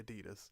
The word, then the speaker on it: Adidas: We see this with Adidas, I guess you pronounce it, apparently, Adidas.